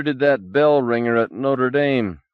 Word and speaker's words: Notre Dame: that bell ringer at Notre Dame Bobo said pronouncing it like the university in Indiana do you know we